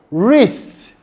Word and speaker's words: wrist: Other words such as answer, wrist, right, also have a silent w sound.